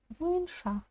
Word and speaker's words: бойынша: Сначала произносим бой, добавляем н. Можно представить, что буквы «ы» здесь нет. И у нас получится боин, боин, боин, боинша. Боинша.